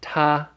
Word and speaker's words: 他: we have Donkey Kong so we know it's first tone Tarzan's we know the word in red there is the pronunciation tah and the person and